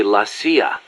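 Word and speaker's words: la CIA: They say Lassia instead of CIA, huh? Um, nothing strange about it. That's how it's pronounced when you read it in Spanish.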